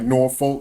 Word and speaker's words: Norfolk: It's not Norfolk. And I don't care if it's spelled Norfolk, like Norfolk. No, it's Norfolk. Yeah. There you go. N-A-W-F-U-C-K. Like, yeah. You say that shit again. N-A-W-F-U-C-K. Norfolk. That's Where true. you from? Norfolk. Like Norfolk. You know when people are out of town trying to say Norfolk, you know, because they don't say, they like Norfolk. It's like nope, that's not how you say it.